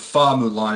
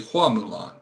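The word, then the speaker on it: 花木兰: I found out that the Chinese pronunciation of Fa Mulan is actually Hua Mulan, Hua instead of Fa.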